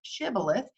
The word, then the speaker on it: shibboleth: shabolith is is a hebrew word it's actually pronounced shibboleth it is from the book of judges and